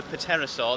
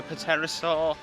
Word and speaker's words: Pterosaur: this right to the Pterosaur um and then velociraptor i think is oh it's there it's there it's right in front of us - I think it's a silent p i know i was